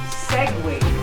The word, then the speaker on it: Segway: wala na namang tum ang tamang pronunciation diyan ay segway a seg seg sego naging